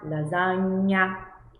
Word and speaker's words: lasagna: Você viu ali que é com GNA, ou seja, sempre que eu tiver as consoantes, o sonzinho ali GNA, eu vou ter a sílaba GNA, eu vou ter o som nha, nha. Como Bologna, lasagna.